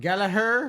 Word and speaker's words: Gallagher: But they pronounce it Gallagher, and I'm like, well, then why is the other G in?